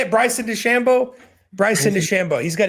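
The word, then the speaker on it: DeChambeau: Shambo oh that's how you say it Bryson Des Shambo Bryson Des Shambo he's got a YouTube channel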